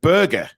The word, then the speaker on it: Berge: a midfielder uh sander Burge by the way who I found out that you pronounce his surname Burger um which I didn't